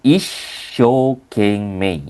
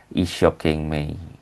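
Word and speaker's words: 一生懸命: Jadi untuk yang ini dia bacanya isokeng mei ya. isoking me dia ada karena kan su i huruf i ketemu huruf si pakai su kecil jadi ada penekanan is nah ini karena ada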